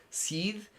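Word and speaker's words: síd: And in old Irish, this would be pronounced se. And in uh modern Irish, this is she.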